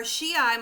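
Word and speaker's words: Shiite: then the safavids are shii muslims we don't pronounce the t really and they are living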